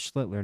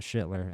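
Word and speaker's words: Schlittler: It is Schlitler, not Schillitler. Everybody pronounces it Schller when they see it first.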